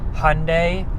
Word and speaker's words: Hyundai: Um, so I'm going to do the best that I can to pronounce the manufacturer right in the in the future. um and and call it Hyundai from here on out and try to get that right.